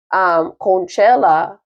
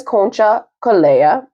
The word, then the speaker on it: Concha Calleja: So energy is giving me that, if Catherine, hopefully is with us from Miss Conchella, is that how you say her name? No. Yeah, Miss Concha Calleja.